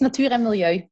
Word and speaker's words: Natuur en Milieu: It's Natuur en Milieu, nature and environment in English.